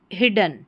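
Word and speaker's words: hidden: Double D को भी ड पढ़ेंगे और एक डी को भी ड।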